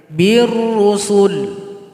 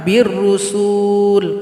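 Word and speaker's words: بالرسل: Birrusul. Jangan birrusul karena di sini nggak ada tanda panjang.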